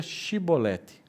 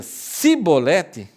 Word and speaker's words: chibolete: homens de L diziam Então diga chibolete chibolete que significa espiga de milho Fale a palavra espiga de milho se ele dizia sibolete não podendo pronunciar corretamente a palavra eles o agarravam e